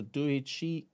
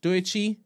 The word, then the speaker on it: Doechii: All right, so Doichi, oops, wrong one. I know I'm pronouncing her name wrong. Doichi, what it is. remix. So the track is Doechi, and you spell it Doechii.